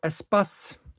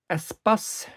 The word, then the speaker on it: Espace: Starting with this Renault Espace with the Star of Life on it in a Renault dealership packaging. So it's pronounced Espace, not E-Space, as our American friends call it, now that Hot Wheels has a Espace V10 vehicle.